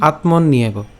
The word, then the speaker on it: আত্মন্যেব: ইয়স্ত্বাত্ম রতিরেব স্যাদ আত্মতৃপ্তশ্চ মানব আত্মন ইয়েব, এটা যদি আমরা ভেঙে দেওয়া আছে কিন্তু আমরা উচ্চারণ করব একসাথে, আত্মন নিয়েব, ঠিক আছে? আত্মন নিয়েব।